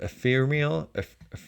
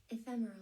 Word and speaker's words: ephemeral: Why is my brain so is the word ephirmial? How do you say that word? Let me look that up. Epherimal. Like nothing will stay. Yeah. Ephemeral. Ephemeral. Why is my brain so ephemeral?